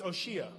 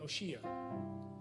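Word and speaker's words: Hoshea: But his name was Oshea, spelled like Hosea, Oshea, which means in Hebrew, salvation.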